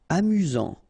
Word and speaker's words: amusant: Amusant. Final T not pronounced. You've got only one S here between the vowels, so it's really this Z sound.